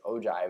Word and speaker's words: ogive: top left we say ogive is spelled og o-g-i-v-e so ogive looks like ogis but it's certainly not so another name for